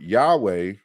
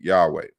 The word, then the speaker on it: Yahweh: that the the word yahweh or yahweh or yahuwah is more anciently pronounced yahoo or yahoo and not yahoo like the you know uh the email service but you know yahoo